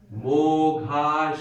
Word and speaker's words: mogha: Mo is long, ha is long, sha is long, kar is long, it's all long in that.